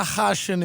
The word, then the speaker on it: Khachiyan: It's technically Khachiyan because it's an Armenian name. You don't say the K, but that sounds like you're like choking on a pubic hair, you know?